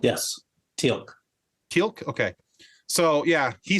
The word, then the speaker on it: Teal'c: I thought it interesting though that I'm not sure how to pronounce his name. Teal'c? Is it Teal'c? Telk? Yes, Teal'c.